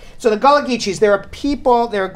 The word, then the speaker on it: Gullah Geechee: the jelly cheese yes I was pronouncing it incorrectly okay okay in Louisiana that called Gullah Geechee x' but that's New